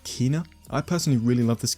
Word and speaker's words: Kena: Now it is pronounced Kena and not Kena.